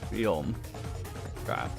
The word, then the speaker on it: Guillaume: Guillaume? Guillaume. I What? keep seeing it. It's like, nope, I've forgotten how to say it again. Just imagine that the L's are like a Y. L's are Y. Guillaume.